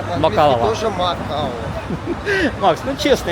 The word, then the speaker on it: Macau: Международное обозначение MOP мокао подтака.